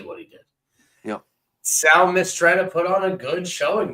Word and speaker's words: Mistretta: But we had Sturdy Sal Marstetti, I believe is how you say his last name. I got it right here. Yeah, Mistretta. I'm sorry.